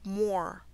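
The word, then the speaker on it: Muir: Moor, spelled M-U-I-R, is pronounced Moor. Even though the spelling is different, the pronunciation is the same.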